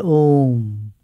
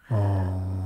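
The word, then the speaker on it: ॐ: All that beautiful prayer you said, they say it in one syllable, Om. Om.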